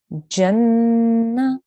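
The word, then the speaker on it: جنّة: have brilliant beautiful make sure when you say the na we don't hear a ha sound at the end it's not it's very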